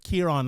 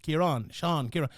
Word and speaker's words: Kieran: And here, let's get that pronunciation right. Kieran, like Kieran. It's an elongated A.